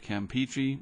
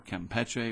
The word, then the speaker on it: Campeche: right there and the Bay of Campeche or Campeche whichever way you want to pronounce it and this will slowly